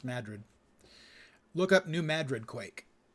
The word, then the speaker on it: Madrid: New Madrid Madrid is spelled like Madrid in Spain but it's pronounced Madrid look up New Madrid